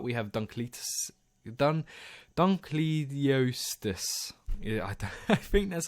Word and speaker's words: Dunkleosteus: so I'll start we have done cletus done Dunkleosteus yeah that's how you say it I'm going